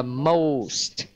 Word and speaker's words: most: Ví như là most. Cách đọc thì giống như lúc nãy chúng ta nói ha, đó là cố gắng tách cái âm cuối ra. Ra xa ra, đừng có gộp nó vào.